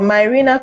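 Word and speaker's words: Mirena: a there is something that you mentioned the marina coil is that the correct pronunciation yes that's correct it sounds it sounds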